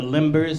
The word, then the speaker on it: limber: They sell the limbers. Remember the ice, the limbers? Limbe. Limbe. That's how you say it.